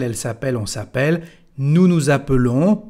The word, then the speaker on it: appelons: Y aquí ahora que tenemos solamente una L, bueno, es el sonido E que aparece. Nous appelons.